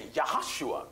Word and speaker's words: Yahushua: There are no J's in the Hebrew language. Right. So the proper pronunciation of Joshua is Yahushua.